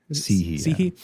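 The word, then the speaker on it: Cihi: Sihi.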